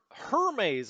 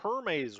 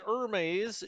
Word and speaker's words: Hermes: january 5th turn the hermes i've been told it's actually hermes we don't give it the french pronunciation it's a british ship so we're not going to say hermes it's hermes uh the